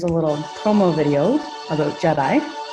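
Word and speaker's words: GEDI: All right, so just to keep everybody awake, here's a little promo video about JEDI. So it's pronounced a la Star Wars, hence the video.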